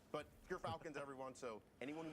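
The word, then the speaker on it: Gyrfalcons: We actually, off screen, we're figuring out how it's pronounced. But Gerfalcons, everyone, so anyone who mispronounces it, that's how you say it.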